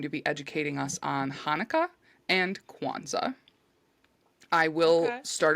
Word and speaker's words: Hanukkah: So the Hebrew word Hanukkah, which it's spelled Hanukkah, but it's also known as Chanukah, Chanukah, but it's most popularly called Hanukkah.